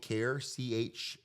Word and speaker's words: CAHR: But anyway, so Central Arkansas Harm Reduction, we've been calling it CAHR, CAHR. A cool little acronym. Pronouncing it CAHR, I think it adds